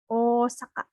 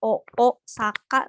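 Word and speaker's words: 大阪: berat next ada Osaka Osaka ini juga sama penyebutannya pengucapannya bukan oo Saka tapi panjang oh untuk artinya mungkin Minahasa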